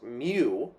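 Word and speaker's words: μ: know which is which this first symbol is pronounced mu and it represents the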